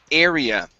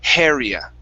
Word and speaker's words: area: starts with a vowel, you tend to uh pronounce an h at the beginning saying haria. Okay. Yeah. So take off the h, remove the h sound.